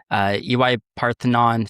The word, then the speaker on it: EY Parthenon: You came up with McKinsey, EY Parthenon. Did I pronounce that right?